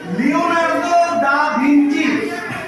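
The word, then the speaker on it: Leonardo da Vinci: First pen উচ্চারণটা ভুল হয়েছে। লিওনার্দো দা ভিঞ্চি।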